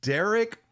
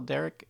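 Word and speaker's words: Dereck: Yeah, it's like wreck, you know, like wreck. Like, oh wow, that was a wreck.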